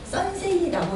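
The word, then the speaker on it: Sensé: 유산화의 화장품은 이름이 선세이라고 읽으시면 되겠습니다.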